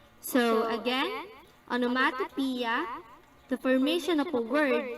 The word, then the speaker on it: onomatopoeia: again hyperbole so the next one onomatopoeia onomatopoeia pronounced onomatopoeia refers to words whose pronunciations imitate the sounds